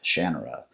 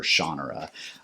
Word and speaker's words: Shannara: Welcome back to the Paperback Pilgrim, and today we're talking about the Sword of Shannara, or Shannara. The authors pronounced it both ways, so I like to say Shannara, but whatever.